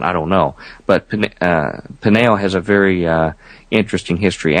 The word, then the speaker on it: Peniel: Jacob names that place Peniel, P-E-N-I-E-L, slightly different spelling, Peniel, almost identical pronunciation, could be just a coincidence.